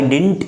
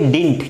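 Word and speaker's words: didn't: यूज to speak Hindi, डिड नॉट को डिडंट पढ़ते, डिडंट नहीं पढ़ना है, डिडंट होता ही नहीं, डिडंट का प्रोनाउंसिएशन ही नहीं है ना, जो डिड नॉट होता है ना दोस्तों, यहाँ देखिए ये जो डिड नॉट होता है ना, ये इसको पढ़ेंगे डिंट, क्या पढ़ेंगे, एब्रीवेटेड फॉर्म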